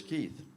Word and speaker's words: Keith: Keith Racy, but you just know me as Keith, which is how I prefer to be called because it rhymes with teeth and it's easy to remember.